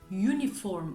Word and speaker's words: uniform: koymalıyım Ama dediğim gibi Kural bize yazılışı değil okunuşu baz almamızı söyler Dolayısıyla bu Kelimenin doğru okunuşu Uniform olduğu için başında bizim görmediğimiz bir y harfi olduğu için biz buna e Uniform